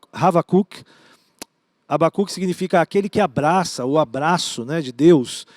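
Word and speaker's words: חבקוק: O nome no hebraico, a pronúncia é Havakuk.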